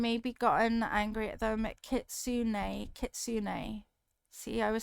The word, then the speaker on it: Kitsune: Kitsune. Kitsune. See, I was saying it wrong. Kitsune.